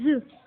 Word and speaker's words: œufs: Il arrive que la consonne finale prononcée dans le nom au singulier ne soit pas prononcée au pluriel. Exemple, un œuf, des œufs.